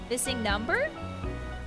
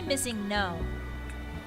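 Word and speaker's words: MissingNo.: Do you say missing number? Because I say missing no. But it's kind of hard to pronounce. Sometimes I say missingo. I always say number, okay. It's pronounced missing no.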